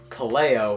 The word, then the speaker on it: Kaleo: So this is the debut album, at least major label album by Kaleo, which is apparently how it's pronounced.